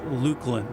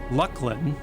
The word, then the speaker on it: Luclin: rapids of insistence that it's pronounced Lucklin.